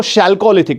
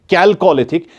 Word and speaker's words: chalcolithic: हमने बात की थी, तो उसको हम कैल्कोलिथिक, और कुछ लोग इसको शैल्कोलिथिक भी पढ़ते हैं, लेकिन असल प्रोनाउंसिएशन क्या है इसकी? कैल्कोलिथिक, CHALCOLITHIC, कैल्कोलिथिक इसको पढ़ते हैं।